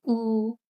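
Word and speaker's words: ㅜ: His name is Ooh.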